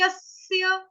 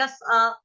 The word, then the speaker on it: यस्य: तो डबल स आ रहा है मेरा, आधे आधे दो स, यस्य। लेकिन यह जो है वो पूरा उच्चारण साफ साफ सुनाई देना चाहिए, किसी का अ नहीं सुनाई देना चाहिए, यस आ, यस आ नहीं बोलेंगे, यस्य, यस्य। क्लियर।